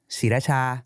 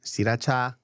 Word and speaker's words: Sriracha: How do you pronounce it? Just, Sriracha. Sriracha.